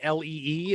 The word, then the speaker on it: Lea: When we finally do, I said, well, is it Lee, L-E-E? How is it? It's pronounced Lee. Then if it's fucking pronounced Lee, why don't you spell it Lee? All right. I don't know what kind of herbs you put on your stuff, but L-E-A is Leah.